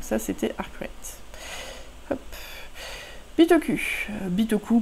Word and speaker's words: Bitoku: Bitoku pour ceux qui insistent à prononcer avec un certain accent, mais je suis sûre qu'il y a des accents japonais où on prononce le U.